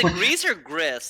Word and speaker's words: Gris: i actually played this greece like how do you pronounce it i think it's greece because it's like the it's like spanish for grey okay yeah that makes